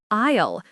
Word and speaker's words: aisle: Next, the word isle. It's pronounced isle. The s is silent.